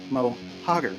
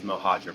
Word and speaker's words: Mohager: His name is uh is Mohaj. Pretend there's like a D.